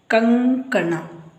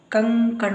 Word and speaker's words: ಕಂಕಣ: ಉದಾಹರಣೆಗಳನ್ನ ನೋಡೋಣ ಮೊದಲನೆದಾಗಿ ಈಗ ಕಂಕಣ ಕಂಕಣ ಅನ್ನುವಾಗ ಇಲ್ಲಿ ಉಚ್ಚಾರ ಸೊನ್ನೆ ಉಚ್ಚಾರ ಯಕೆಂತಂದ್ರೆ ನೋಡಿಗೆ ಸೊನ್ನೆ ನಂತರ ಕ ಉಚ್ಚಾರ ಬರುತ್ತೆ ಆದ್ದರಿಂದ ಕಂಕಣ ಹಾಗೆ ಇಲ್ಲಿ ಲಂಕೆ ಈ